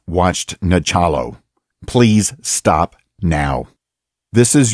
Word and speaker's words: Nachalo: Nachalo, a.k.a.